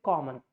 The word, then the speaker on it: common: But this one, this sound will convert into schwa. So that's why we say common.